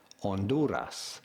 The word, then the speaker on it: Honduras: In Spanish, from Spain, it is normally said as Honduras. Oh, yeah. Honduras.